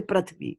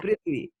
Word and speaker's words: Prithvi: Like Prithvi, right? You don't say Prathvi. Do you say Prathvi? You say No. Prithvi.